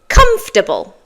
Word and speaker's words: comfortable: So, we're going to have a look at the top 5 words that people often find difficult to pronounce. The first one is comfortable.